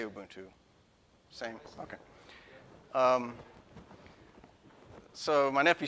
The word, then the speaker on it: Ubuntu: Am I pronouncing that right? I say Ubuntu. Same? Okay. So my nephew said, try Ubuntu, and of course I ignored him.